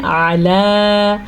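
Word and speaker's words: علیٰ: علی قلوبہم، عین کے تلفظ کا پھر سے خیال رکھنا ہے، الا نہیں پڑھنا. آپ نے اس کو کیا پڑھنا ہے؟ علی.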